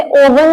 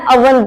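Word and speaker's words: oven: कहते है ववन वन इसे ओवन नहीं कहना अवन बोलना है अवन नेक्स्ट है राख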